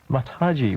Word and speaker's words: Mataji: Mataji, welcome to the program. Thank you. I hope I pronounced your name correctly.